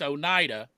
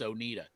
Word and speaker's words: Oneida: In Tennessee, it's Oneida. And it's spelled the exact same way in Kentucky. It's Oneida.